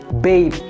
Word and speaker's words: BAPE: Padahal pengucapan singkatan dari brand ini sederhana banget, yaitu Bape. Bape. Bukan babe ya, because she's not your girlfriend.